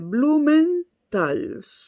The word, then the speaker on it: Blumenthal: Blumenthal es bastante fácil de pronunciar. Es una L y una S al final. Blumenthal. No está la A. Porque en alemán, cuando hay 2 consonantes al final, se suele rellenar o con una A o con una A